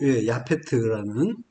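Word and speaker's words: יפת: 야벳이요 팟타에서 나온 말이에요 야벳이 원래 발음은 창대하게 하시려고 야페트라는 이름을 주시는 거죠 자 거친들로 데리고 간대요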